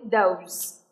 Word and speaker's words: those: Có âm Z ở phía cuối, those.